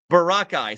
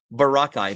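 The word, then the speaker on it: Boracay: Barakai. So, Barakai is actually the the proper pronunciation of the word. Barakai. Make sure I put that in my mind from now on. Barakai. Not Borai.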